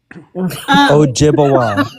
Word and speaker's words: Ojibwe: Ojibwa. It's pronounced So is that what you Ojibwa.